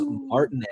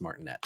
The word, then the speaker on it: Martinet: news this week Charles martinet I think that's how you say it I don't think it's martinette I think it's not